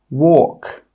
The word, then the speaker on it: walk: The letter L is normally not pronounced when it's after the vowels A, O, and U. Some example words are walk, half, calf, yoke, could.